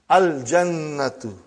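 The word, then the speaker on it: الجنة: Brother, you will pronounce lam. Al-jannatu.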